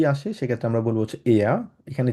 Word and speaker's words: er: এখানে যেহেতু আর আছে, আরটাকে আমরা উজ্জ্ব রেখে আমরা বলার চেষ্টা করবো এয়া, আরটা থাকবে না। আবার কেউ যদি এয়ার বলতে চান ডেফিনেটলি ওটাও কিন্তু কারেক্ট, বাট আমরা চেষ্টা করব সঠিকটা উচ্চারণ করার জন্য, ঠিক আছে, আমরা বলবো হচ্ছে এয়া, আরটা উজ্জ্ব থাকবে।